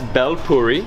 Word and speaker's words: bel puri: I can't even pronounce it. So how do you say this? Puri? That's bel puri.